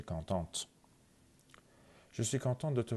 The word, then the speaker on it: contente: حالا اگه یه خانم اینو بگه content یه آخرش میگیره، ته آخرش تلفظ میشه contente.